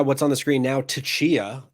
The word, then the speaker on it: Tchia: Well, after that, we saw what's on the screen now, Tchia, if that's how you pronounce it. Maybe it's just Chia. Maybe the T is silent. It's an upcoming. It is Tchia.